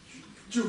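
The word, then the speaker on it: བཅུ: Это у нас как будет читаться? Чу. Почему чу? Потому что предписная не читается.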